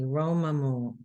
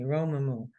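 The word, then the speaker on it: רוממו: Like Romamu, I would put Rome, like Roam, Rome, Ma, Mu. And then I practice saying it correctly, Romamu. And then it comes to me, Romamu.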